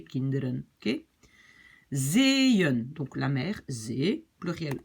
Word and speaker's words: zeeën: Vous voyez, donc en fait les 2 petits points, ça veut dire je commence une nouvelle syllabe, une nouvelle partie. Donc je prononce zeeën, zeeën, d'accord?